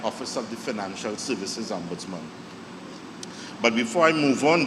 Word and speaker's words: ombudsman: First of all, the word ombudsman. Sometimes you tell somebody and they say the ombuds what, and they pronouncing it funny and all sorts of things. It's ombudsman, all right?